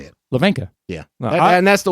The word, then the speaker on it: Hlavenka: last name is pronounced Hlavenka. It's a Czechoslovakian name.